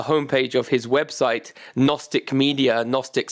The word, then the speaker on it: Gnostic: found on the home page of his website Gnostic media gnostic spell with a soft G so